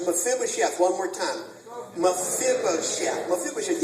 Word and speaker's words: Mephibosheth: So just repeat after me. Fib, O, Sheth. Careful with that last syllable. Okay. Fib, O, Sheth. Let's put it all together. Mephibosheth. Very strong temptation. I want to say Mephibosheth. That would be untrue. It's Mephibosheth.